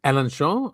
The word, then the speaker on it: Alençon: Alençon. Yeah. Alençon, because it has an accent on the C.